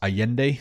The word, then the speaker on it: Allende: it's spelled alende but it's pronounced Allende because he's Spanish South American Salvador Allende is a left-wing socialist